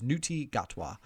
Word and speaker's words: Ncuti Gatwa: name, and I am pretty sure it is Ncuti Gatwa is the guy's name.